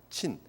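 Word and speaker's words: Zin: 나중에 민수기 33장에 가면 거기도 신광야가 또 나오는데 그거는 신은 아니고 친광야예요. 친.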